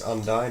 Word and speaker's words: Undine: Then for tech choices, we've got two Gen X Undine, or Undine, however you want to pronounce it, with one Gen X controller.